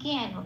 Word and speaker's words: জ্ঞান: জ্ঞান যেমন আছে তেমন, নয় কোনো হসন্ত নেই, তাই ন পূর্ণ রূপে বলতে হবে জ্ঞান বলে, জ্ঞান বলতে পারবো না, জ্ঞান।